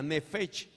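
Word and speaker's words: נפש: La primera de la cual hablábamos, que fue la mente inicial, se pronuncia nefesh.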